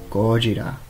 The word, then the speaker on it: Gojira: Now, Godzilla, the name means gorilla whale, because gorilla in Japan is basically how you say it here, only replace the L with an R, and whale is Kujira. So yeah, Gojira, gorilla whale, or as